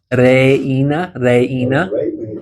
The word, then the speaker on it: reina: Bailar, reina. Yep. Yeah, so you pronounce each of those vowels separately as well.